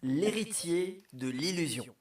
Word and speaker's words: L'Héritier de l'Illusion: It's l'héritier de l'illusion.